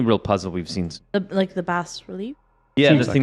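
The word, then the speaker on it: bas-relief: bas relief, actually. That's what Till says. Thanks, Tim. He's so educated, Till. You know, But it's got an S in it. It's a French S.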